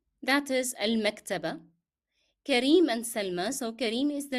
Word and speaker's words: سلمى: And here remember we are pronouncing yeah in Salma as alif because the preceding letter is carrying fatha. So you pronounced as if it is alif. Salma.